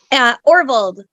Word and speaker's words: Orvold: Orvold.